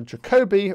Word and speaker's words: Jacobi: a more subtle one due to jacobi or yeah i know i've mispronounced it but this is the standard pronunciation in english-speaking countries so the jacobi identity